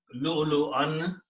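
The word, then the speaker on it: لؤلؤا: Okay, first of all, this wow is silent. It's not supposed to be pronounced, both of these. because they are the chair for Hamza. Hamza is sitting on them. So you pronounce Lam with Hamza with a sukoon. So it will be Lu, not Lu. Lu. Same thing. Lu'un.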